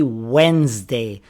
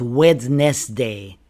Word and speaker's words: Wednesday: And finally, Wednesday. Not wedness day.